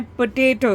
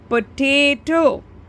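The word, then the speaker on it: potato: अब पोटैटो छोटा सा है उसमें, पोटैटो, ना कि पोटाटो। यहाँ जिसने लिखा था पोटैटो के स्पेलिंग, वहाँ डबल ए लिख के किया है, तो वो साउंड करता है पोटाटो।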